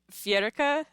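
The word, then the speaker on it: Feirge: And this one should most likely be pronounced You're going to hate this. Fiera.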